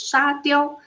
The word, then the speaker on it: 沙雕: However, in Chinese language, the pronunciation of “sand statue (沙雕）” is Sha Diao; and Sha Diao can also means stupid losers（傻屌）.